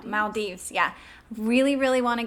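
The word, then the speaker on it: Maldives: to Bali and um I'm going to say it wrong because now I'm panicking because I was corrected the malds no Mal Dives yeah really really want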